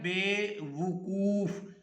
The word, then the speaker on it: بے وقوف: نے دے دیا ہے۔ نمبر 1 پہ اس نے کہا ہے بے وقوف، اور کہتا ہے واو کے پہلے وقوف کے پہلے واو پر پیش ہے، تو اس کو